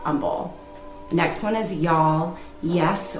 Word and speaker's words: Humble: side of 45 and it is spelled with the h but it is pronounced humble next one is y'all